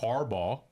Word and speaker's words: Harbaugh: Harbaugh.